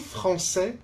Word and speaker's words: français: Je suis français, je suis française. I am French. 我是法国人. Français, it's a man. Française, it's a woman. Here also you see, français for a man, we don't pronounce the final S.